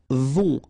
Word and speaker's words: vont: Right, then ils vont. Final T not pronounced, and then O and together, on vont.